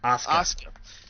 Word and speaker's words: Asuka: How do you pronounce her name? Asuka.